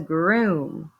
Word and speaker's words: groom: next word is groom these two o's in the middle instead of having our two vowels go a walking rule the two o's a lot of times are going to say Ooh So this says groom to groom something is